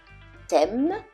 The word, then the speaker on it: thème: Thème, and théâtre, théâtre. So anytime you see TH in French, it's always going to be a silent H, and it's pronounced as a regular T.